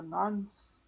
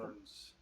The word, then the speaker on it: Norns: you know anything about the nuns, the nuns? I don't know how to say it. The It's like that. Norns. Yeah, oh, there's an R.